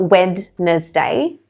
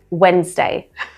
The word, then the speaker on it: Wednesday: Wednesday, Wednesday. It sounds like I'm saying the first way. They're very similar. It's not Wednesday, but that's kind of how it's broken down. Wednesday.